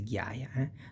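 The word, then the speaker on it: ghiaia: Ga you pronounce like girl. Ga is that that path full of little stone. That is the gaya.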